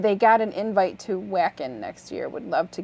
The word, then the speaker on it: Wacken: got an invite to wacken next year would love to get your ear on it oh they're going to vacant huh nice yeah sorry it says whacking it's pronounced by German yeah it's a German